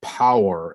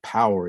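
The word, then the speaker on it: Powur: i decided to go with a company called power it's spelled p-o-w-u-r and and it's it has a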